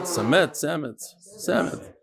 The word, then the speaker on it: Samet: Samet. No, in Hebrew it's Samet. It's Hebrew.